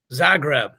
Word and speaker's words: Zagreb: But the tournament in Croatia, and how do we pronounce this again? Zagreb. I would have said Zagreb. So Zagreb.